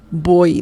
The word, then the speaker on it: voy: Remember, the V sound in Spanish is similar to B as in bell in English. So voy, just imagine this is a B, like that. Boy, that's the pronunciation.